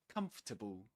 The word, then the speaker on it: comfortable: Comfortable. Comfortable. Yeah, just three syllables.